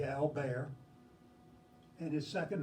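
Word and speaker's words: Albert: name it is pronounced his French pronunciation of this first name would be al bear and his second name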